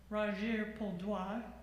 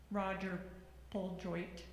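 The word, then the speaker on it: Roger-Pol Droit: In French, it's pronounced Roger Poldois. In English, it looks like Roger Poljoit, if anybody's interested.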